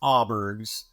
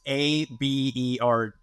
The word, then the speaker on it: Aaberg's: It's technically, back 40 years ago, pronounced Auberg's. It's Abergs.